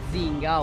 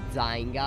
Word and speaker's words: Zynga: Oggi sono qui per farvi vedere un MOBA, se così possiamo definirlo, di Zynga o Zynga, a seconda di come preferite pronunciarlo, chiamato Dragons and Titans.